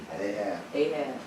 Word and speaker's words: Ahab: Now the rest of the acts of Achav, I think I'm pronouncing that right, Achav. Ahab. Oh, okay, Ahab.